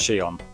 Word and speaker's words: Shion: I used to call him Shion, but apparently it's pronounced Shion.